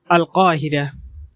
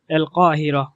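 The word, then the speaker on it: القاهرة: এর আঞ্চলিক উচ্চারণ হলো এল কাহিরা, এল কাহিরা। এখানে কফের উচ্চারণ গ এর মতো হয়নি, কারণ আল কাহিরা শব্দ দ্বারা প্রসিদ্ধ কায়রো নগরীকে বোঝানো হয়েছে।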